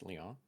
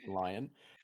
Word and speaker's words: Lyon: curious about how to properly pronounce Leon is not as lion thank you thank you